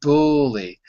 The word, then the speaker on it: bully: That is the sound like put or book. So here the IPA is saying bully. The reason it's not completely an sound is because the L changes it.